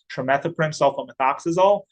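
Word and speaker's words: trimethoprim sulfamethoxazole: If you want to practice this a little bit, it's pronounced trimethoprim sulfomethoxazole.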